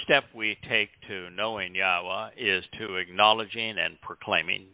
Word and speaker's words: Yahowah: Haya, you can pronounce Yahowah. If you can say Shalom, you can pronounce the only letter that would throw anybody off in Yahweh's name, which is the Waw, that beautiful tent peg